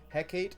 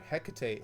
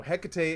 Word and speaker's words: Hecate: card and apparently this is more uh so Hecate is the Shakespearean pronunciation, but Hecate is the Greek more common uh pronunciation in American and British uh British uh speech basically. So, Hecate is the way to say it, not Hecate,